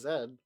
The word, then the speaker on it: Z: I may just be No, I I didn't know that you guys pronounce Z as zed.